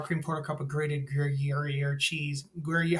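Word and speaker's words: Gruyère: 1/4 cup of sour cream, 1/4 cup of grated griier cheese. Ger, how do you say it, Tara? Gruier.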